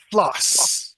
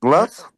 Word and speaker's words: floss: Ah, floss. Right? Gloss? Dental floss. Dental gloss? Floss with an F.